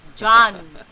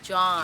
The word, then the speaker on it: Jean: pronounced John. Jean is pronounced John.